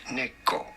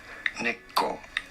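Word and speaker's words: 猫: Neko. Neko is Japanese for cat.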